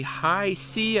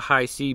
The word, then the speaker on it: Hisea: that being said the company high C I think I'm saying it right I I hope so um h i s e a high c I apologize if I'm not pronouncing it right but I think that's how you say it they reached out and